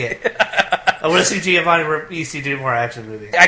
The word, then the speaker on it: Giovanni Ribisi: I'm very impressed that you pronounced his name correctly, because I wouldn't have. I really don't have an opinion on Giovanni Ribisi.